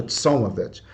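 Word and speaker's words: צלמות: Eu peguei a pronúncia, é Tsalmavet, né?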